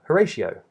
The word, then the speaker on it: Horatio: Which reminds me of Horatio, who was a Shakespearean character.